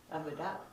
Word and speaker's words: Avodah: Avodah. When you ask that question, you try to remember those words. Those are impossible words to remember. I gotta punch them up in my notes here. Yeah, avodah is A-V-O-D-A-H.